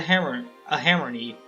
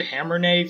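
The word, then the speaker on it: Hammerne: I don't know exactly how to pronounce it, but I've heard it pronounced hammern, and that makes the most sense. I pronounced it hammernay for a long time because it's hammer and then nay. Hammern sounds right.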